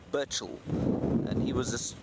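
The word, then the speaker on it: Burchell: in my poor pronunciation it's burel B Ur CH h e l burel and he was this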